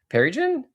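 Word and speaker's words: Pearrygin: It sounds like a cocktail. You're like, "Oh, I'll have a pear gin.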